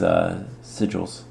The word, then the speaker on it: sigil: hopefully both of these sigils. And sigils? Yes, sigil. That's how you pronounce it. I was pronouncing it wrong last episode.